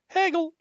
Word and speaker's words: Hegel: Hegel. Hegel. Yeet the Hegel. You know he's legit because his name rhymes with bagel.